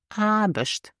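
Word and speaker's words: Aarbecht: e c HT but we don't pronounce the r before the B so you will hear not AR but it's arush arush or for example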